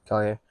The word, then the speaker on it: Collier: Collier. He played with, I don't know, Collier.